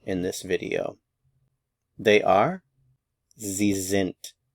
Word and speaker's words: sind: this video they are zint Z zent notice the pronunciation of the S is z zint notice also that